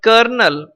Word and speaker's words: colonel: Then colonel we are writing, but colonel is the correct pronunciation.